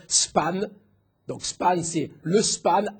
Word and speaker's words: span: souvent dans la littérature, c'est ça se prononce span.